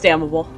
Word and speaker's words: damnable: yeah I damnable yeah no it's damnable the N is silent no but it's often pronounced as damnable I don't think it